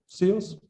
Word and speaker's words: SIOS: Shall I say, how do you pronounce it? SIOS?